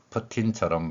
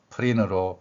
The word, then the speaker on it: Putin: 그리고이라는 가 나겠고요 니은 이렇게 띄어 읽는다면 풋으로 발음하지만 실제 생활에서는이 발음이 붙습니다 그래서 프틴 발음되는 것이 기본 원칙이고이 발음이 미국인들의 경우에는 티이 모음과 모음 사이에 소리가 나기 때문에 린으로 발음되는 경우도 종종 생긴다는 것입니다 이렇게 받침으로을 기하는 칙